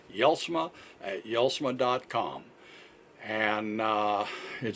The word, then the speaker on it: Jelsma: this very simple it's yell smih yells medCom and it says yells Montcalm actually our email is y'all smile at yell Sarang calm and the J's pronounced like a y but is je LS